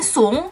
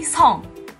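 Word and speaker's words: 승: Pertama dari marganya, yang aku bilang bukan Lee, tapi I. Bukan Sung, tapi Song. Di Korea bacanya Song.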